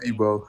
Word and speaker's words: Igbo: Igbo is Igbo, pronounced Igbo.